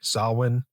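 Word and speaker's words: Samhain: uh what is it how do you pronounce it properly JJ sawin yep saln yeah that's not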